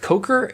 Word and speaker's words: Coker: So that was The Spirit Tree from Ori and the Blind Forest by Gareth Coker. Is that how you pronounce his name, I suppose? Yep.